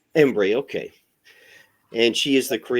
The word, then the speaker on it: Embree: Systems in Austin today we're joined by ombre is that how I pronounce it is that correct close Embry embre okay and she is the director for tulip